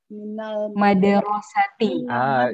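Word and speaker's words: مِنَ الْمَدْرَسَةِ: Jadi Budita, tadi yang saya maksud itu yang saya permasalahkan itu mimnya tadi kan mu bukan ma ya kan ya? Yang betul bacanya ma gitu kan ya?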